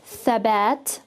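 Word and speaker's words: ثبت: So we're going to pronounce it as tha, and all together is thabat, thabat. So we don't hear a very long sound, it's actually really short.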